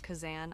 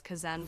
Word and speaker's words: Khazan: I I have only recently learned how to pronounce Kazan. I thought it was Kazen before, but rest assured, I've